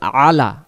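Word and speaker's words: على: শব্দের অর্থ হলো এবং আলা এটা হবে আলা আর আমাদের অনেকে ভুলক্রমে তাড়াহুড়া করার কারণে বলে ফেলি ওয়ালা আলী মোহাম্মদ তখন এখানে ওয়াও জবর ওয়া লাম জবর লা ওয়ালা তো এখানে আছে আলা শব্দের অর্থ হলো উপর আর যদি লা পড়ি তখন লা শব্দের অর্থ হলো না এখানে ওয়ালা উপর কার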